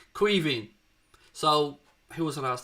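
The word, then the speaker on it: Caoimhín: Queeving. So, who was it asked the question? Sorry. Aaron, it's pronounced Queeving. It's the Irish for Kevin.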